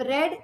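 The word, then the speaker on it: read: I have रेड your letter, रीड का देखिए तीनों फॉर्म्स में रीड ही होता है, बस प्रोनाउंसिएशन का तरीका अलग होता है।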